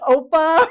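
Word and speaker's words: 오빠: move to Korea and find their like K-drama oppa, whatever.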